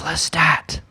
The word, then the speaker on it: Lestat: heard that too I said I said it's Lestat oh it's his name right I said it's